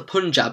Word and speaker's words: Punjab: right let's start talking about demons of the Punjab then yes that's how it's pronounced thank God demons of the Punjab I didn't know quite when I first read